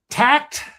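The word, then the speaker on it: Takt: And I I I made some notes to myself here and I hope I am pronouncing this correctly. Tact t a kt.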